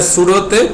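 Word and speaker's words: pseudo: হ্যাঁ, তো এটা সুডোতে পিটা সাইলেন্ট থাকে। হ্যাঁ, তো আমরা এই জন্য পি সুডো বলি না, শুধু কি সুডো বলি আর কি।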